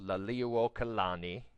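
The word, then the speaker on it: Liliʻuokalani: Liliuokalani, go ahead and say that out loud, Liliuokalani, have it spelled phonetically there for you.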